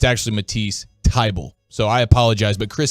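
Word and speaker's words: Thybulle: was calling him Matisse fiebel for the last I don't know 48 hours or so turns out H is silent it's a table now it spells t-h-y bull so I've been saying Matisse thibal but um it's actually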